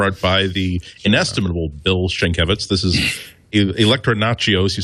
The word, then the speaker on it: Sienkiewicz: You're proving your geek credibility by even pronouncing Sienkiewicz correctly.